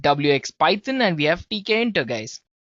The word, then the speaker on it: Tkinter: Python and we have TK enter guys yes it's spelled as TK enter right so it's t k i n t e r guys well among all